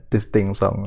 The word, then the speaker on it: distinction: Kalau dalam bahasa Prancis, konon katanya bahasa Prancis itu membacanya distinction. Saya cuma niru saja karena saya tidak bisa bahasa Prancis.